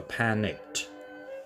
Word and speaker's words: panicked: add the K, so the pronunciation of the word panic can be pronounced with K, not S. So panicked.